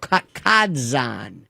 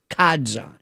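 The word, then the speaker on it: Ca' d'Zan: And John Ringling owned a place in Sarasota, beautiful called Kadzan. I think it's a Venetian pronunciation of Casad Joan. Kadzon in the Ringling Art Museum.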